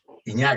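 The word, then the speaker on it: Ignác: Iñak, así se pronuncia.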